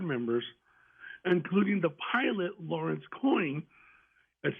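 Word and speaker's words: Coyne: including the pilot Lawrence coin a c Co y n but it's pronounced coin okay that claim to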